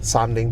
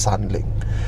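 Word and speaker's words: 三菱: But when Chinese read, they don't call it Mitsubishi, they call it Sanling.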